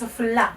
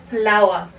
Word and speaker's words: flour: And remember, we don't pronounce this as flour, but we pronounce it as flour.